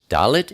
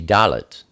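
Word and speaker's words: דלת: Dalet is the number 4, and it's pronounced D, like door.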